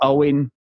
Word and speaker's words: Eoghan: We have seen the end of good old Owen, Eoghan, as he's pronounced. Eog. As it's spelled.